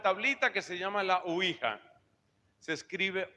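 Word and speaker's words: Ouija: El adverbio si ui ya, pero se pronuncia usualmente uija.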